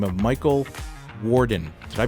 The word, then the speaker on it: Worden: in the Maryland area and talk to a gentleman by the name of Michael Worden. Did I pronounce that, correctly?